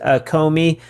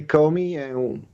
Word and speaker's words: Co.Me: Maybe you've heard of the product Comey. Am I pronouncing that correctly? Comey. Yeah. Usually Americans they say Comey.